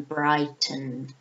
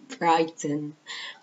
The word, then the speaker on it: Brighton: b e l e n z okay H Brighton which is the pronunciation brick no Brighton okay b r i g h t o